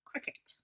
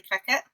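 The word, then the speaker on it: Cricut: here has entered the world of crack c-r-i-c-u-t cricket whatever you like to pronounce that I used to thank you I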